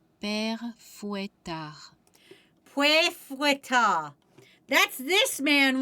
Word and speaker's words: Père Fouettard: How is it pronounced? Google will help me. Père Fouettard. Père Fouettard.